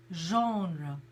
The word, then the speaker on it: genre: there's on so we we pronounce it very much like the French pronounce it genre Michael also came up